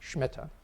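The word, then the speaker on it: Shmita: And again, in Israeli Hebrew, it's pronounced Shemitah.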